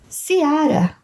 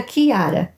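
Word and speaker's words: Ciara: Seara leu minha irmã mas da maneira errada se pronuncia k ara expliquei Eu tinha dado uma pesquisada tempos atrás e descobri que a letra k não existe no alfabeto irlandês Então essa é você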